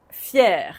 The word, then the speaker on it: fier: Fier, même prononciation.